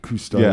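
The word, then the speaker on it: Cousteau: It's It's They're named after Jacqu Kustoau, the underwater explorer.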